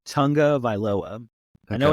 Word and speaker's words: Tagovailoa: Dolphins activated quarterback Tua Tagovailoa. I can't ever say his last name. Tagovailoa.